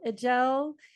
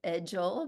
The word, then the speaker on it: Edgell: to the Joy first podcast this is agel and I'm super excited to be talking with